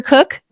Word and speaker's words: Koch: prefer Dr or do you prefer Dr Cook no I go by Dr professionally partly